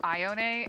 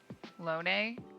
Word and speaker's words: Ione: Anyway, she said that she says it Ione, and I figure if that's your favorite villager, you probably know how to say her name. So that's what I went with.